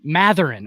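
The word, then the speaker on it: Mathurin: talked about right before this um Benedict Benedict matheran is that how you say it uh Benedict matheran matheran okay yep absolutely rookie rookie four it's not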